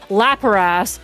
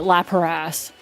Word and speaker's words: Lapras: I have been pronouncing the Pokemon name Lapras Laparass as far as I can remember. So, as far as I'm concerned, I'm going to continue pronouncing it Laparass.